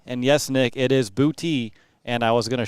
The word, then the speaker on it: Boutte: And yes, Nick, it is Boutte. And I was going to show you if I click the right button. Boo-Tee is the pronunciation.